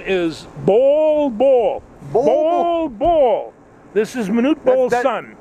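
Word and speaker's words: Bol Bol: easy to remember by it is b-o-l-b-o-l and and when they announce his name on uh pronounces that ball ball and it's just like wow you can't quite miss that so he's he's a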